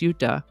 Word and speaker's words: Utah: When the Spanish explorers came along, they simply pronounced it as Utah, and that pronunciation evolved to the current pronunciation, Utah.